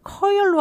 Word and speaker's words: courier: 그래서 아, 제 발음을 Courier, Courier로 하나? 아니에요. Courier, 약간 R, Courier 발음이 들어가야 되는데 이분이 약간 R 발음이 좀 빠졌어요.